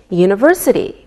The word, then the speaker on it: university: We say a university because university sounds like a Y sound.